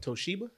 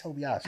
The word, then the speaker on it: Toshiba: Toshiba. There you go. Why did I say Tobiashi? Anyway, I don't know. I had a Toshiba.